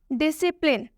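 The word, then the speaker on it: discipline: मतलब होता है कैची डिसिप्लिन डिसिप्लिन में भी एस के बाद से सी आया हुआ है इसलिए इसमें सी साइलेंट होगा डिसिप्लिन डिसिप्लिन का मतलब होता है शीष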